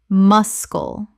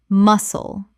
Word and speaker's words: muscle: wrist wrist Word 196 muscle Common mispronunciation mus-kull Correct pronunciation muscle The C is completely silent. Two syllables.